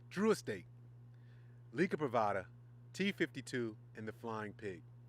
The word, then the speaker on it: Liga Privada: let me say it correctly drew a stake Lika privada t52 in the Flying Pig if you're not